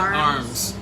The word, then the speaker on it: Ormes: And is that how you pronounce it? It's like Ormes. Yes. Yeah. But it's they would say Ormes.